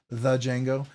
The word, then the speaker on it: Django: right so you're like sounds like you're pronouncing it the D but you're really calling it The Jango anyways but anyways I